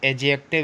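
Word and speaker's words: adjective: कुछ लोग एडजेक्टिव बोलते हैं और कुछ लोग एडजेक्टिव बोलते हैं, लेकिन एडजेक्टिव ही बोला जाता है, डी साइलेंट है ना।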